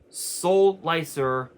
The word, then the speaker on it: Solicer: Solicer, Soul and Slicer basically is how it's pronounced.